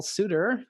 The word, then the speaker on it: Sutter: And today we have Professor Paul Sutter. Am I saying it right, Paul? It's Sutter like butter with an S.